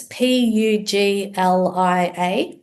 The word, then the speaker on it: Puglia: You mentioned Puglia experience. Say that again. What was that? Puglia, which is one of the regions in Italy. How do you spell that? Highly sought after region. It's Puglia.